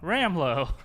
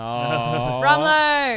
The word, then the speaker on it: Rumlow: Fimo said Brock Rumlow. Cool. Maud said Brock Ramlow. And Sam says, Brock, rum's a good drink. No. Rumlow.